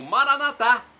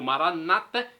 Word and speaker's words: Maranata: do aramaico Eu Clamo maranat como dizemos nossos católicos ou Maranata com a tônica na penúltima sílaba como dizem nossos irmãos separados os evangélicos ou estantes não importa a pronúncia o significado é o